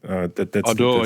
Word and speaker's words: Ardour: Did I pronounce it correctly? Yeah. Ardour, right? Ardour, yeah.